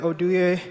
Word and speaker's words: Oduye: you say it my name is oduye my parents are from nigeria and i'm located